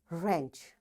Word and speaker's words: wrench: Wrist, wrestling, wrong, ran, wrinkle, rack, wrap, wrench. You see, in all these words, because W is followed, after W there is R, so we don't pronounce this W.